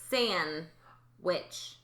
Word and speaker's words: sandwich: They say San-wich. Listen to Braylon say it, okay? San. They don't pronounce the D, but they have the N.